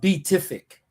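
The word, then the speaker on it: Pituffik: Leveraging its unique location to counter Russia and China, and solidifying the existing Batufik space base for Batufik. I guess I do. Beatific. I know it's a P, but it's pronounced Beatific.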